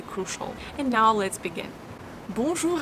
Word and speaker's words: bonjour: Bonjour. Bonjour. When you pronounce ou, you push your tongue back.